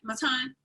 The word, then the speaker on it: Matan: Am I pronouncing your name right, Matan? Yeah, that's actually very good.